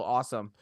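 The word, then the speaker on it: Asim: His name is pronounced Awesome Richards.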